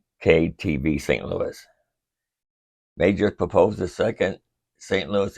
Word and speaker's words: Meijer: It's Meijer, it's not Major.